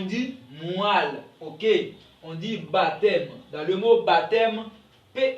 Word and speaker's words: baptême: ne se prononce pas on dit baptême on dit dompter P ok ne se prononce pas on dit donc ok